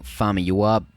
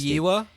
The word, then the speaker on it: Famuyiwa: Anyway, first of all, I just wanted to congratulate you again on pronouncing Famuyiwa perfectly. Like, that was just perfect pronunciation, not even being sarcastic. Famuyiwa?